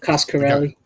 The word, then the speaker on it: Coscarelli: Coscarelli.